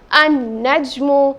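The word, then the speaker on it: النجم: the letter lam so how will this be pronounced as an najmu can i say no why because the lamb here is silent therefore this lamb will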